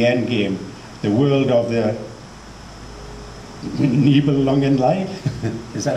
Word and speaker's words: Nibelungenlied: Just picked one out, the 2007 Rules for the Endgame, the world of the Nibelungenlied. Is that how you pronounce it?